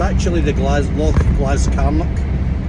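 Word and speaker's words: Glascarnoch: that holds Pike H lock glass carock or the glasgo as some people pronounce it the glasgon my mate fudy calls it the glasgo but it's actually the glass Lo glass carock it's pretty awesome Bleak remote place it's like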